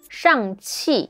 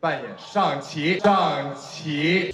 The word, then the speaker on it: Shang-Chi: that the movie movie's chinese name is shang chi the falling tone chi he pronounced it as shanti rising tone again overall really good